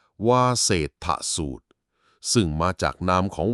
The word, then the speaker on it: วาเสฏฐสูตร: มี ชื่อ ว่า วาเศษฐูตร คำ นี้ อ่าน ว่า วาเศษฐูตร ซึ่ง มา จาก นาม